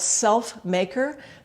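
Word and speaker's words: SLFMKR: an interesting name actually it's called self maker but it's spelled s l f m k r no vowels it was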